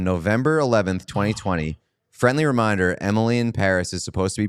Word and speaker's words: Emily in Paris: Friendly reminder, Emily in Paris is supposed to be pronounced with a f French accent, so Emily and Paris rhyme.